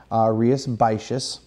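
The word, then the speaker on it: Rías Baixas: a festival Andrea spacious and that's how you pronounce it rias basis anyway so in Rio spice just this is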